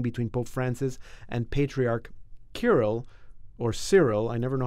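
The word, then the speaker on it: Kirill: Pope Francis and patriarch Kiril or Cyril I never know how to pronounce that you don't say well people say curl and French we say Cyril Cyril yeah he's the primate of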